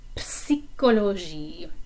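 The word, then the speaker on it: psychologie: social sciences listoir la psychology this one is kind of a funny word because you do pronounce the p when you say psychology in french in english it's silent but for this one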